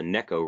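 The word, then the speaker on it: Neko: a lot of good Niko rig baits and it's actually technically called the Necco rig which I was corrected by someone who that's how they say it in Japanese so the neck oh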